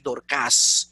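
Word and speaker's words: Δορκάς: un problema porque cuando tú lo ves en griego es aguda, entonces Dorcas. Entonces dice, oye, pero ¿qué pasó aquí? Pero imagínate, debe ser un problema para los oídos de uno y la fonética de uno, que tiene la vida entera escuchando, hablando de Dorcas, y de momento tú tienes que en griego es Dorcas.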